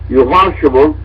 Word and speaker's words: Yehoshua: In that day and age, it would have been pronounced Yehoshua ben Yusuf ben Nazarati. In other words, Joshua, son of Joseph, from Nazareth.